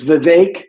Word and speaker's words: Vivek: It's Vivek. It rhymes with K. Vivek.